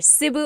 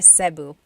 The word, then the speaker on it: Cebu: E can be pronounced E or E like the letter I. So, I say Cu. Cu. And I know some people say Su, but usually it's either Cebu or Sebu.